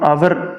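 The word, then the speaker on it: hour: एन आर के लिए हम यहां पे एच साइलेंट है और यहां पे हम आवर लेंगे तब भी हम जो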